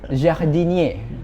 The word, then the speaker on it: jardinier: menjadi cikal bakal nama jardinier yang kita gunakan Oh dari bahasa Prancis Oh jardinier itu bahasa Prancis Kalau Kalau pengucapannya agak ribet sebenarnya jahdinie nah artinya itu sebenarnya